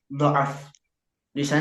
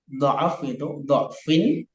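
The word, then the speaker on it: ضعف: Untuk "du'fin", ada dua cara, dua modus untuk membacanya. Artinya, tulisan ini dapat dibaca dengan fathah, "da'fin", atau dibaca dengan dammah . “Du’fin”, seperti “Allah khalaqakum min du’fin.” Itu juga mungkin. Namun cara yang paling disarankan adalah membacanya dengan fathah. “Allah khalaqakum min da’fin” yang menggunakan fathah. Namun membacanya dengan menggunakan dammah juga diperbolehkan.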